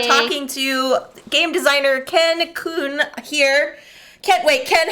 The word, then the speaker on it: Kuhn: I just tell people like a Q plus an N. Okay.